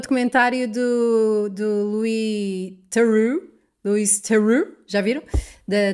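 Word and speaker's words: Theroux: Louis teru é teru lui. Teru teru. O apelido é francês na origem, mas na pronúncia dele fica bem perto de Thu.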